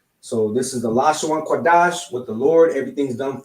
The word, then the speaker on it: Qadash: So we have a da and a sha, which makes pronounced dash. Lashawan Qadash, which in the English